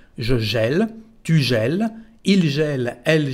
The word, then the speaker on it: gèle: Así que la primera forma se dice je gèle, como si fuera una E. Je gèle, tu gèles, il gèle, elle gèle, on gèle.